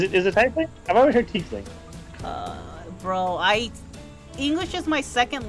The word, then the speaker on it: tiefling: He's It's a he's a tiefling. tiefling. Yeah. Is it tiefling? I've always heard tiefling.